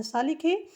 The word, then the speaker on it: slow: इसको आधा सा लिखे, यल को ला, ठीक है। ओ है तो ला पे ओ की मात्रा और डब्लू हो गया, तो डब्लू यहाँ पे साइलेंट है।